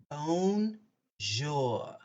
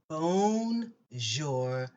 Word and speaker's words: bonjour: for this lesson is bon jour how do you say hello and good morning in french phone jour bone jour like bone bone jor bonjour is hello and